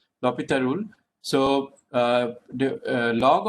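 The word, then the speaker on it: L'Hôpital: l hospital rule but l hospital is actually a french man and his name is pronounced as lopita lopita rule so uh the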